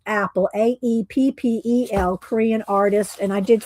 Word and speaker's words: Aeppol: It's pronounced Apple, Aeppel, Korean artist.